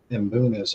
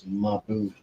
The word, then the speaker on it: mbuna: They're pretty hardy, and I always say it wrong. I call them Mbunas, and I guess the right way to say it is Mabuna.